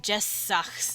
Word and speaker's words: Jessach: that's what we're going to be doing here, because I noticed I did something there on accident with Jessach's name. Those S's are being pronounced together.